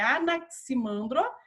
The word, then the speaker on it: Anaximandro: o nome aqui falando né como que se pronuncia então é anaximandro e anaximenes e heráclito heráclito e nós temos